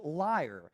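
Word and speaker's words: lyre: one is l-y-r-e and it's pronounced liar it means a politician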